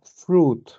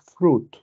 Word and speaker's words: fruit: esta palabra se pronuncia fruit ya eh nosotros como como nosotros en español leemos todo mucha gente dice fruit cierto pero la i no se pronuncia fruit hagamos esto rápido porque